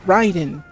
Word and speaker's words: Raiden: name is supposed to to to be be pronounced, but, you know, for a fact that it isn't. It's uh, Ryden. And yeah, we all know it's Ryden cuz think about it.